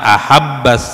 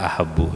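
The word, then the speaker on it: أحبَّ: radhiyallahu anha qalat, kana ahabbas siyabi. Jadi meskipun ada karena di sini disebutkan sebagai siap bin nasab, jadi dibacanya dengan nasab, jadi ahabba tidak ahabbu ya.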